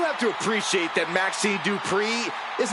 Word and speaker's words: Dupri: Uh Michael, it's pronounced Dupri.